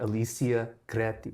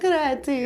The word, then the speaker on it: Alicia Creti: Like Alicia Creti. Yeah, Creti. I'm sorry. I really wanted to roll my R, but I didn't want to be patronizing.